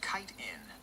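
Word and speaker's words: chitin: How do you pronounce C hi T I N? It is pronounced kiten.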